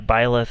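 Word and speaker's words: Byleth: joker um cloud um bile bileth yeah biola that's how you say his name um then snake i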